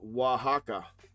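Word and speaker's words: Oaxaca: pronounced Wajaka. Okay. Wajaka, Mexico.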